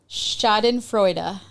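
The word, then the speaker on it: Schadenfreude: The German word is shoden frea. What? That's how it's pronounced. Shoden Shoden Freuda is a is a compound noun formed.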